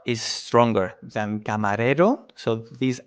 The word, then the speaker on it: camarero: In this case, the R is stronger than camarero, so this R is different, right? You see camarero, the rolling R is soft.